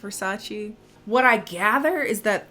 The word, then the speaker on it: Versace: really nice and she's like oh it's from versailles and he's like oh it's pronounced versace what i gather is that that's supposed to